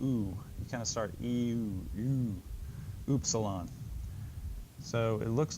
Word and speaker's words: Upsilon: say Upsilon ooh Upsilon a lot of books will say it's pronounced like a German umlaut u which helps if you know German but if you don't know German it doesn't help think of it maybe as the English u in the word Universal ewe